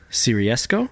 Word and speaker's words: Siriesco: so it's because it's changed recently yes seresco you were close Cisco Cisco okay well my